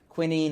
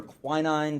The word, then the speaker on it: quinine: terms of treating malaria with quinine or quinine depending on how you want to pronounce it this was something important